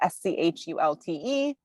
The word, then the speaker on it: Schulte: We'll get the spelling incorrect, but it's is my first name, and Schulte, which is Schulte.